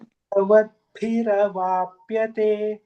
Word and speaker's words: देहवद्भिरवाप्यते: So there is no akara. It's like it's dehavatbhiravapyate. So if you see the script, if the A has a bar on the top, then we give like akara.